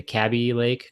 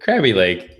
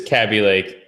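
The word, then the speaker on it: Kaby Lake: processors rose at the cabbie Lake crabby Lake cabbie like yeah it's close enough how you pronounce it crabby leg there's no R what there's no R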